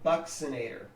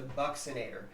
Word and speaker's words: buccinator: Another mastication muscle is what's called the buccinator, and that's how that's pronounced, the buccinator.